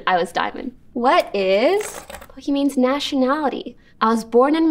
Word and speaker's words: Pokimane: That's why it's actually supposed to be pronounced Pokimane. But I understand in English, this just reads as Pokimane.